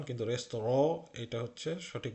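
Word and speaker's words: Restaurant: যেরকম ইন রেস্তোরাঁ, এটা কিন্তু রেস্টুরেন্ট না, এটার উচ্চারণ ফ্রান্স থেকে এসেছে, ফ্রেঞ্চ ভাষা, ফ্রেঞ্চে রেস্তোরাঁ বলে, আমরা বাংলাতে রেস্তোরাঁ যেরকম বলি সেরকম একটা উচ্চারণ, কিন্তু রেস্তোরাঁ এটা হচ্ছে সঠিক উচ্চারণ।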